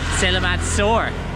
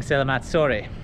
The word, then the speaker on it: Selamat sore: Everyone's been laughing at me in the comment section because I've been saying Selamat Sore. To say good evening, but Selamat Sore, it's in English it's spelled pronounced sore because it's S-O-R-E, but in